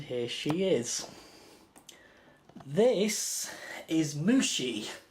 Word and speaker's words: Mushy: This is Mushi. It's spelt like Mushy, but it's actually pronounced as Mushi, and I think I might move the camera around.